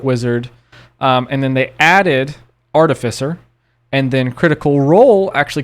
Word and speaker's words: artificer: as an art artist artificer so it is artificer that's artificial yes and that is like the